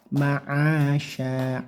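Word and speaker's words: معاشا: Ma'asya, a-nya bagus, jangan sampai membacanya seperti huruf hamzah a, tapi a. Ma'asya, shinnya tebalkan karena ini shin besar ya, dengan cara desisnya yang banyak sya, atau seperti huruf sy gitu ya, sya, shi, shu, bash.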